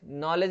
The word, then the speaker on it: knowledge: वैसे ही आप देखेंगे नॉलेज, नॉलेज में आप देखेंगे KNOWLEDGE, यहां पे आप देखेंगे तो के साइलेंट रहेगा, नॉलेज, ठीक है, डी भी साइलेंट रहता है, दो दो साइलेंट रहता है इसमें नॉलेज में, के और डी, नॉलेज, नॉलेज, डी भी साइलेंट।